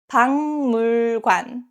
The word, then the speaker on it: 박물관: Next, 박물관, museum. 박 ends with 기역 and next syllable 물 starts with 미음. So this case, 박 is pronounced as 방, 박물관, 박물관.